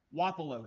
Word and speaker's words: Wapello: Wapello is how you say that, correct? Yep. But the number of times people go Wapello. Now, anybody who's watching the Wapello team at home, anytime they hear Wapello, they're going, why? That's not how you say it.